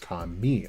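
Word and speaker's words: 髪: For God, there's an emphasis on ka in me, and for hair, it's pronounced ka mi.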